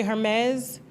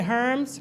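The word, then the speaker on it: Hermès: I just learned how to say Hermes. I used to say Herms, remember?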